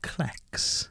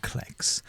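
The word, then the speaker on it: clecs: john hello to you i accuse you of klex um klex i reckon it's i reckon it's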